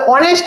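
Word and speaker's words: honest: তাহলে অনেস্ট ম্যান, তাহলে আমি যখন বলেছি এইচ থাকবে, কিন্তু এইচটা কি হবে না? কি হবে না? উচ্চারণ করা হচ্ছে না। এইচটা কি হচ্ছে না? উচ্চারণ করা হচ্ছে না, তাহলে সাইলেন্ট থাকছে, তাহলে এটা কি হবে?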